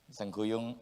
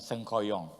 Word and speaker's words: Sengkuyung: Banyak yang bilang Sengkuyung itu Korean software karena dibacanya Sengkoyong.